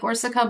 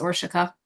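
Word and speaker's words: Orsika: But first and foremost, for everybody on the call, just so you know, it's pronounced with an SH sound. It looks like Orsica, but it's Orshika.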